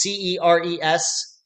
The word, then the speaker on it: Ceres: And I should say, when you say series, that's a town, and it's not spelled like World Series. It's Ceres series.